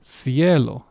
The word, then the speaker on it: cielo: This word is cielo. The C is at the beginning of the word, and yet the pronunciation is of a S.